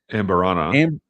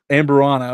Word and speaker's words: Amburana: The real showstopper, the beer was aged on, oh my goodness, I'm going to mispronounce this. Amberana. Amburana.